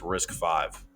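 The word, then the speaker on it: RISC-V: The biggest long-term threat is an open-source insurgency called Risk V, pronounced Risk 5.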